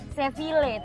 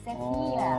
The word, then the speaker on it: Sevilla: Seville, tapi kalau bahasa Spanyol double L itu dibacanya Y gitu. Sevilla.